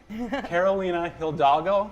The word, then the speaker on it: Carolina Hidalgo: I'm talking with Frank Conniff and Trace Beaulieu from the MADS are back, and I'm also talking with Carolina Hidalgo.